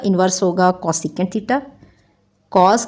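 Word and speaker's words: θ: Symbol होता है, angle, और इसको हम कैसे प्रोनाउंसिएशन करते हैं इसकी, थीटा।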